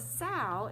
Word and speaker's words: sow: word for pig but the reason they call it a sow is because it rhymes with the word cow can you say sal